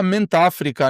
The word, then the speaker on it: Mentáfrica: Então, né, conforme a gente já falou para você, Mente África. A pronúncia é só Mente África, né?